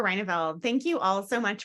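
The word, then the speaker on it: Reyneveld: And our next candidate is, and I apologize if I'm saying your name wrong, Rendveld. Yeah, it's Reineveld.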